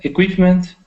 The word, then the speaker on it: equipment: perfect that's equipment so it's not equipment it's equip so getting that is sound equipment equipment equipment one more time equipment